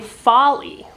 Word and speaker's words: Foley: and I realized that she pronounces her name Foley, Lucy Foley, so didn't know that.